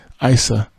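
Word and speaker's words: Eissa: to a 1-year-old son, Isa, or Issa, if I'm saying it right, E-I-S-S-A.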